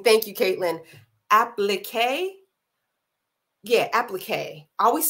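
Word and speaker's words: appliqué: I always mess up pronouncing. Thank you, Caitlin. Applique.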